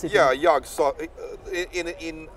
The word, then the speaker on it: Yog-Sothoth: Yeah, Yog-Sothoth. In I believe he said it with the soft th, Yog-Sothoth.